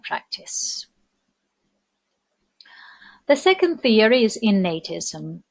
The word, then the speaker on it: innatism: The second theory is innatism. Notice the pronunciation, please. The root is innate and the word innatism.